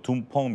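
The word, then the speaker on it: 东风: 이제 중국 발음은 이제 둥펑 미사일인데요. 네. 이제 이것은 미사일이 하나가 아니라 여러 계열입니다. 단거리 미사일서부터 대륙간 탄도 미사일까지 여러 종류의 미사일을 현재 지금 둥펑 미사일이다라고 칭한다라고 좀 말씀드릴 수 있겠죠.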